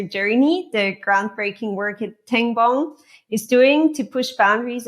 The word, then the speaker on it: Tengbom: You're the passionate sustainability director at Tengbom.